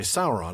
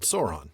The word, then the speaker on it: Sauron: So that the diff thong rhymes with loud and how instead of loud and ha. Okay. Well, that's the same reason we say Sauron and not Sauron.